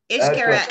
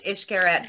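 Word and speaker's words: Xcaret: Iscariot. Ishkeret, it's pronounced Ishkeret, but it's actually spelled X-C-A-R-E-T.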